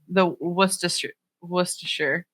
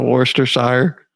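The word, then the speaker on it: Worcestershire: Um, and then, however you say it, the worsher. Whoa. Worster sire or wor like in New England. I think you're supposed to say it like Worcester the town.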